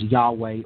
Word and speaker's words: Yahweh: And this, if we transliterate into the English language, is transliterated as YHVH, which comes down to us in the English pronunciation as Yahweh or Jehovah, again, names for God in the Judaic tradition.